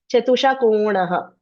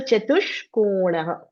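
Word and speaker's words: चतुष्कोणः: Start making this sh sound and ka. Chatushkonaha. Because it's a half. You cannot say chatusha konaha. So chatushkonaha.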